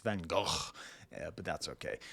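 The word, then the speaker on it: Van Gogh: now of course the problem is it's actually pronounced vano but that's okay van go van go paint your house you know red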